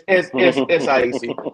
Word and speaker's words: SIAC: You're gonna say CX and just keep it right there. It's SIAC. SIAC.